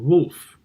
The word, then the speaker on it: wolf: posting now we've got the last one which is pretty similar not exactly the same woman and wolf so it's the short o sound not the long o sound if you watch my